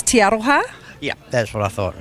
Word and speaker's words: Te Aroha: Just pronounce the town again for me. It's Te Aroha.